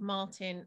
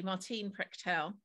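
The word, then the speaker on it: Martín Prechtel: the quotes from the oral teachings teachings of martin martine is pronounced actually martine prechtel who is um an amazing shaman and it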